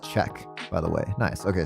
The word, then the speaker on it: Ccec: a series of, oh, it's pronounced check, by the way.